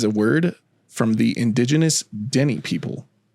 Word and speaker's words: Dene: So Nahanni is a word from the indigenous Dene people. Dene, I think is how we're going to pronounce that. Dene. It's a Dene. So that's how we're going to say it.